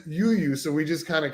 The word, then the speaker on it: UWUW: so I'm like no it says it says you you so we just kind of came like I